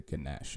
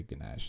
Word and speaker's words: Ganesh: and uh we said so you pronounce it the ganesh at least all the indian people have met they say ganesh and like or ganesha depending on the region of india you're from and we named our